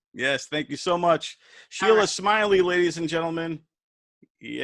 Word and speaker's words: Sheilah: name speaking of rona my first name is spelled s-h-e-i-l-a-h like rona so sheila and then smiley s-m-i-l-e-y